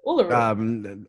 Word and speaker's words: Uluru: Uluru? Uluru.